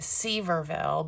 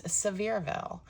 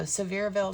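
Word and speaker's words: Sevierville: great shops also in um well I've been pronouncing it Seaverville but apparently it's Severeville. So Severeville, Tennessee.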